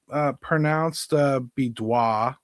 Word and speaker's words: Bidois: First, it's pronounced Bidois, as best I can tell. I've heard him say it. I've heard others say it. I've seen it phonetically spelled. I think we're on to something here.